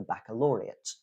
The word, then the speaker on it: baccalaureate: We also have the noun baccalaureate. Again, at the end of your studies in high school, in a lot of countries, you take the baccalaureate. So that's ATE at the end, but it is ut.